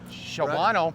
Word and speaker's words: Shawano: We were in Shawano yesterday. Shawano?